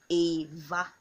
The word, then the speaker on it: Eva: just like we call every what I'm Nigerian okay but this time around is not it is a the e pronounce it as an A okay Ava - Ava - Ava